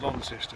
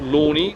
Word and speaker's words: Launceston: here in tasmia is called lones you must pronounce it lones or lonni not lony and not lest further up the river